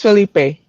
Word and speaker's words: Felipe: Philippe, is it Philippe or Felipe? How do you pronounce it? Uh, it's Felipe.